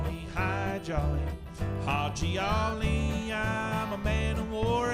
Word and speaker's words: Haji Ali: Along with those camels came camel drivers, and one of the camel drivers' names was Haji Ali, but nobody could say his name correctly. They called him Hi Jolly, and he's buried in Quartzsite, Arizona now.